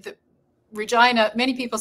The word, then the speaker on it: Regina: I think but uh but we say Regina I don't know it's probably a Saskatchewan thing well my biggest thing